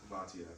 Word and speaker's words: Bhatia: Bhatia, and how everyone's seen him coming up on tour through like the Corn Ferry and all that before.